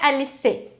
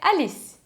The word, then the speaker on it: Alice: Só que atenção, se o seu nome acaba em E, esse E em posição final, ele nunca vai ser pronunciado. Então, por exemplo, Alice. Não é Alice, é Alice.